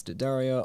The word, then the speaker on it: D'Addario: Yeah, that's what I said. D'Addario, right? Gus says, yeah, that's the one. Awesome. I knew it. It's actually, yeah. So you said it's D'Addario. I've been saying it wrong too.